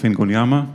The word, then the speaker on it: Ingonyama: my name is I'm the founder of fincon Yama this is how you pronounce it The Talk today is uh going